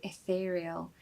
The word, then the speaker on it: ethereal: We need a very short I at the start of the word, so it should sound like I.